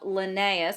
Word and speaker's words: Linnaeus: can classify organisms so here's a picture of linnaeus that's how you pronounce it linnaeus is famous for coming up